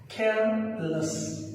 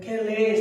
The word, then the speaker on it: careless: Okay, for example, careless, okay, but most often you might have heard people pronouncing that careless.